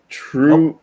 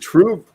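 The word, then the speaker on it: TRVE: So, True, is it True? True or True? Yeah. They pronounce V's as the letter U in Scandinavia.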